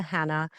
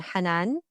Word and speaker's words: Hanaa: So, my name is pronounced in multiple different ways, but I respond to Hannah. I'll respond to everything other than Hanan because that's not my name.